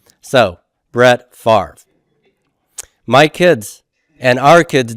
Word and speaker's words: Favre: this Favre Brett Favre now that name is actually a French word and they would pronounce it in France as father father okay we are nasty old Americans who don't follow anybody's pronunciation rules and we metastasize the V and the R sound and we switch them and we put that are before the V why because it's a